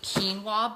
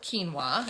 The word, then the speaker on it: quinoa: option are these nutty quinoa bites not Quino quinoa as I have learned the years how to pronounce but these are really